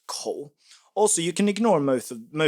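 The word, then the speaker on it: 口: So, it's a mouth and it's pronounced co.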